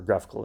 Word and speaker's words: GraphQL: admin graph QL interface our graphical interface is that it's actually pronounced we're going to inspect